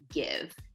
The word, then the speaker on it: GXVE: And today we're taking a closer look at Gwen Stefani's new line, Give. That's spelled GXVE, by the way.